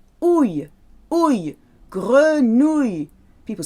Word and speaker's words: grenouille: Now, frog is easy to pronounce, but grenouille. Ouille, ouille, grenouille. People say grenouille with a oui at the end. It's not a oui, it's a y.